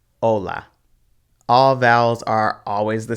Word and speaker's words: hola: between the two higante aceh is silent like hola notice that you skip right over the aceh and go straight to the o ola all vowels are always